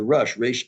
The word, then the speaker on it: Rosh: and in there the rush spell like Ro uh I pronounce it Rush it's also pronounced R like head um you will find